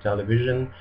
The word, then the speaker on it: televisi: V is pronounced just like F in Indonesian, and actually Indonesian doesn't have this V sound. It's always replaced with an F. So for example, the word television is televisi, or TV is TV.